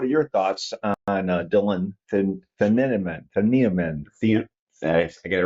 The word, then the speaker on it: Thieneman: I want to say Thieneman, but that sounds right. Yeah, I've heard it said many times now. Thieneman. Thieneman. That's what I wanted to say. One syllable. The IE is just one.